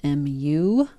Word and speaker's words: mu: different symbols for this and we've seen this mu before if we're talking about a population then we use this Greek letter mu which is spelled m u and it's pronounced mu like a cat say